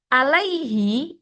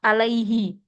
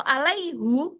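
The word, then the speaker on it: عليهِ: Lah, alaihi itu lebih mudah diucapkan karena sebelumnya ada ya-nya. Ya itu identiknya dengan kasroh, alaihi. Kalau alaihu itu berat di lidah mereka dan tidak mungkin ada.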